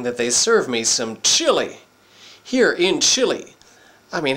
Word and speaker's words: Chile: coming to you from Chile or as the locals say Chile this town and it's